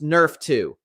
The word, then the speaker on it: NRF2: Your body has its own master anti-inflammatory switch controlled by a protein called NRF2, pronounced Nerf 2.